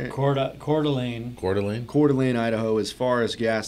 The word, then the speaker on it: Coeur d'Alene: Coeur d'Alene, Idaho.